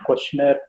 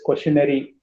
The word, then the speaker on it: questionnaire: involved in process of questionnaire designing okay and humble request don't call it as questionary many people pronounce it wrong questionary questionary this is questionnaire that's it questionnaire that's it okay